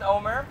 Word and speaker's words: Omer: Jake my name is Omer you don't want to know how to pronounce that it's Omer without the H I just want to